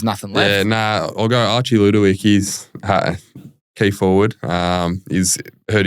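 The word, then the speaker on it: Archie Ludowyke: Archie Ludowick.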